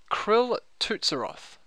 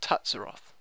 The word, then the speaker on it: K'ril Tsutsaroth: of my head so apparently it is krill tutsiroth or tatsuroth one of those so